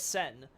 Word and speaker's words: Sen: But the idea with Sen is, of course, that it's the same, it's pronounced the same as the kanji for war, essentially.